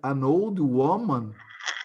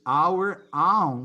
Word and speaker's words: our own: Pedro, you said an old woman nature is our own human nature. Oh. It's not an old woman, okay? You pronounce it like an old woman nature, okay?